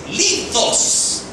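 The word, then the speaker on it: λίθος: No, la palabra para piedrita en griego no es Petros, es litos. Litos, para pronunciarlo como en latín.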